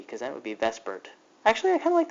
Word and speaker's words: VSEPR: and that is called Vesper and I know it doesn't look at all like Vesper it's like theer but we pronounce it Vesper and here's what it